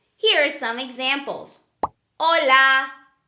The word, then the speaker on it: hola: we never pronounce the letter ah-choo it's a silent letter here are some examples hola hola no sound of the letter I change it's